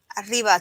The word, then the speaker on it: arriba: Arriba, 2 R's, IBA. Because you have to roll the R.